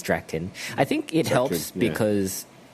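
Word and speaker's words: Draken: and drakken um i i thought they might have been mispronouncing drakken for a long time i i thought that his name must be dragon and they're just like they but yeah turns out his name is is drakton i think it helps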